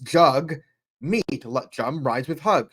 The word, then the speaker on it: Jagmeet: this is Twitter page you could see it's pronounced jug meat let jum rides with